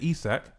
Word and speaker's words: Isak: tells me that they are not happy with Isak. Is that how you say his name? Correct. Right. So, but the point is that Liverpool have not met their valuation of Isak.